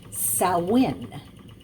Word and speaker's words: Samhain: roots in samhain as it's spelt but it's pronounced salwin this was an ancient celtic celebration at the